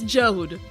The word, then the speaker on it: Jode: In Japanese, his name is spelled Jode. It's Jode. It It's Joe. This is how it's spelled. And I My pronunciation is correct. Is accurate to the original text.